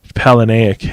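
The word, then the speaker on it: Palahniuk: a book by Chuck I want to say Palin aook is how you say his name but I don't know people say it different but I'm pretty sure that's how you say it he was the author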